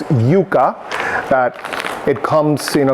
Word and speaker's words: yuca: obviously corn and then yucca which we pronounce yuca that it comes in